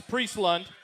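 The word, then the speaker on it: Priestlund: It's Priest-Lund, right? Yes, sir. Okay, not Pierce. I wasn't sure if someone misspelled it. So it's Priest-Lund and Bo Jones, two of the freshmen here joining us tonight.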